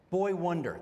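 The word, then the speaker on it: Boi-1da: I Hillary, how does he pronounce his name again? Boy Wonder. That's right. But he spells it B O I the number one and DA.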